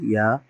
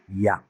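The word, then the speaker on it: ياء: এটার উচ্চারণটা হলো হামজা, আর এটা উচ্চারণ হলো অবশ্যই ইয়া, ইয়া। এটার উচ্চারণটা কি, ইয়া।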